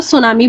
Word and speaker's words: tsunami: देखो सुनामी में T silent होता है इसलिए उसको सुनामी बोला जाता है, ये भी बहुत ज्यादा हार्मफुल होती है।